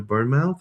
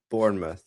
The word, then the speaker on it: Bournemouth: Is he going to Burnmouth or what? Or Bournemouth or whatever you call it?" Bournemouth.